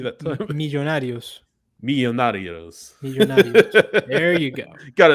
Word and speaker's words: Millonarios: And certainly his playing time could increase with Edwin Mosquera now loaned out to Millonarios.